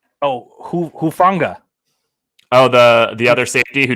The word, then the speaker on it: Hufanga: Hufanga.